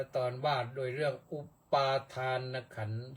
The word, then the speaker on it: ขันธ์: ทะ แต่ เรา มา ใส่ การัน ที่ ทอ ธง ก็ ก็ อ่าน ออก เสียง ว่า ขัน อย่าง เดียว ใส่ การัน หรือ เขา เรียก ว่า ทันตฆาต คือ คาต เสียง คาตะ ก็ ก็ คือ ฆ่า คา เสียง ตัว นั้น น ที่ ออก เสียง ว่า ขันธะ นั้น มัน ไม่ ต้อง ออก ออก เสียง พอ ใส่ การัน แล้ว เรียก ว่า เอ่อ ขัน เฉย ๆ หรือ อุปาทาน ขันธ์ อย่าง